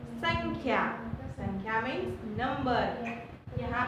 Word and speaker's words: संख्या: ये जो है वो ड नहीं है, क्या है ये नेजल साउंड है जिसका प्रोनाउंसिएशन क्या होता है संख्या, राइट. संख्या ये हमको ड नहीं ऐसे पढ़ना है पर ये अनुस्वार की जगह है, राइट.